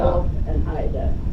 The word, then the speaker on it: Phileda: Phil and Ida. Great. I was named Phileda. That's wonderful. And they used the Swedish pronunciation Ida at the end.